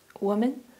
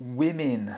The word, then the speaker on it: women: Woman. Not quite woman, but women. Women.